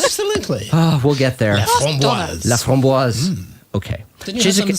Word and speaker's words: Laframboise: Our first guest is Donna Laframboise, to give the proper French pronunciation. Laframboise.